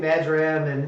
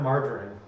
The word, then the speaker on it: marjoram: But truly, it's something kind of like marjoram, in between marjoram and arugula. But Marjoram? marjoram, not margarine. Marjoram. Yeah. I gotta say it like that so people Is it- understand. I'm not saying margarine.